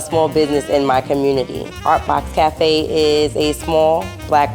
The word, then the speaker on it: Ourtbox: And that is where the name derived from, Ourtbox, spelled O-U-R for hour, and I added the T, the pronunciation became Ourtbox.